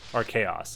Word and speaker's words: Archaos: Archaos is how you say that.